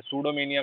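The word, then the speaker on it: pseudomania: सूडोमेनिया, ये P silent है, सूडोमेनिया का मतलब है फॉल्स स्टेटमेंट, गलत स्टेटमेंट देना, गलत हमेशा बताना, गलत इंफॉर्मेशन फैलाना, सूडोमेनिया।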